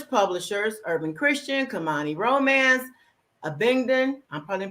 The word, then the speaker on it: Abingdon: worked with numerous publishers urban christian kamani romance abingdon i'm probably pronouncing that right press and whatever happens abington thank you and she has written something good